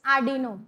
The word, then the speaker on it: Arduino: You know that Arduino software IDE is required to It's Arduino. R is silent.